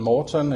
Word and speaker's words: Morten: And as you mentioned, Morten is my name. And you did a very well pronunciation of the name there, so good job for that.